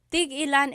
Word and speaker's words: tig-ilan: So tig ilan, when there's a hyphen in it, you have to have that glottal stop.